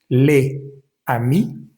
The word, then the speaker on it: les amis: Las últimas eses no deberían pronunciarse, pero ya cuando leemos toda la frase en conjunto, entonces la s de la palabra les sií se va a leer, va a vibrar y